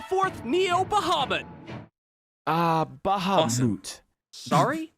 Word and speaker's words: Bahamut: forth Neo bahabad uh Bahamut sorry it's pronounced Bahamut no actually I think Cloud's right it's Bahamut yeah see now let me